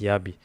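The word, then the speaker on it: Jabi: By the way, that combination of starin and and yabi yabi pronounced okay it's written j a b i but it's pronounced yabi.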